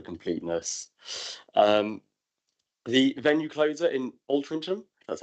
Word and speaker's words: Altrincham: The venue closer in Altrincham, that's how it's pronounced.